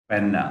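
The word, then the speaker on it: poena: Penna, that is OE, there comes the diphthong, OE, two vowels come together. Penna, P-O-E-N-A, penna means punishment, penna, punishment.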